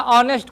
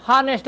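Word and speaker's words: honest: बहुत लोग क्या है ऑनेस्ट को हनेस्ट बोलते हैं।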